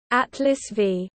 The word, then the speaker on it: Atlas V: Atlas V is pronounced 5, is an expendable launch system in the Atlas rocket family.